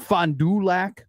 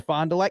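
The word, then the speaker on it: Fond du Lac: It looks like Fondulac, but it's FondeLac. No, I always said Fondelac.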